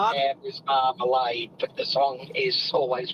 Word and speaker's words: Marmalade: Jam is marmalade, but the song is always pronounced as Marmalad.